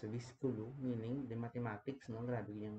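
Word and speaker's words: Wiskunde: wi or or Centrum wik pronounce as visku meaning the Mathematics no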